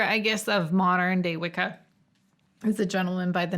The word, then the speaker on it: Wicca: much for some reason old english has a couple of things that we see in common with good old italian where it'll make a cha sound in most scenarios and so wicca as it's commonly pronounced